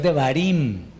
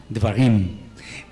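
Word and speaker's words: דברים: Sí, no es Devarim, ni es Devarim, no, Devarim.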